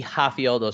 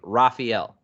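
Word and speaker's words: Rafael: he is brazilian and the r should be a soft r with the h sound of the h sound right so the ha sound so it should be hafieldo sanjos but he pronounces his name raphael i mean so is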